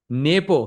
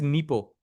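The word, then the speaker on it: Nepomniachtchi: some way that would be very very fun Napo exactly actually the correct pronunciation is Nepo I actually heard it's Nepo Miachi so we are all saying it wrong bishop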